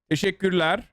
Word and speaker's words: Teşekkürler: Teşekkürler.